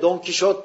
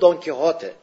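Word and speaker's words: Don Quijote: yazmıştır don kote romanını Yani biz Türkçede Fransız telaffuzu yla Don Kişot diyoruz onun Normal adı don kote zaten adı da Arapçadan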